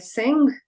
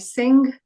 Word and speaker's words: Singh: this is a common surname people tend to pronounce it as Gupta but it's Gupta Manoj shastri Manoj shastri sanj Sing sanj Sing Sing is a very common surname for Indians